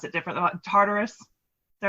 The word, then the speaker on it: Tartarus: little country estate out in, and I probably pronounce it different, Tartarus.